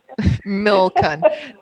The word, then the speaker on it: Milcun: Well, and you've also been pronouncing it Milcun, and of course that comes from the military as well. Exactly. Yeah. Yeah. You can tell what my history is like, right? Anyways, Milcun. I've totally been pronouncing it totally wrong all this time.